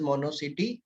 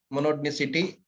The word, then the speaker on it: monotonicity: is what what is mono City very simple what is more I'm pronouncing it wrong monotony City what is monotony City so